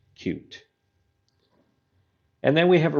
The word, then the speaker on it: Qt: and cute is pronounced cute it is not QT so if you hear that in a tutorial video or something like that just know that it is actually pronounced cute and then we have